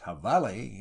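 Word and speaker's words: jabalí: The habali, pronounced havali in the Mexican version of the Spanish language, is the wild hog of northern Mexico.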